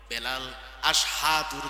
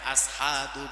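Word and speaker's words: أشهد: এটা নিয়ে সমালোচনা করে আশহাদু জায়গায় আসহাদু বলে ফেলে সিনের জায়গায় সিন বলে ফেলে উচ্চারণ সঠিক হয় না কাফিররা নিয়ে হাসাহাসি করে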